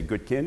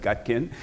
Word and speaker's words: Gutkind: friend for 30 years I've been trying to get him to say good kin instead of gut kin and we're we're halfway